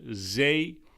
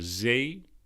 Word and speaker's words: zee: We see the ocean, or as we call the zee, more similar to the English sea. The zee.